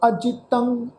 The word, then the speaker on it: अजितंग: सैना साध समूह, सूर अजितंग, अजितंग ऐड़ा, जजे नूं सियारी, तत्ते उपर टिप्पी की मात्रा, नासकी उच्चारण होएगा अजितंग।